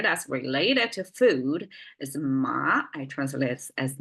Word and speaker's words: 麻: ma a um but we pronounce as a rising tone M and originally it's